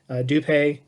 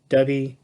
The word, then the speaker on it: Dubhe: You can pronounce this several different ways. Dupé, Dubhe, either way is fine.